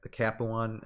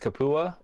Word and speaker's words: Capuan: I believe it's pronounced Capua. Capuan. Or Capua. Capuan.